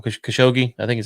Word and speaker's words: Khashoggi: and I'm going to get this poor guy's name wrong. Khashoggi, I think is how you say it. Khashoggi, I got it right.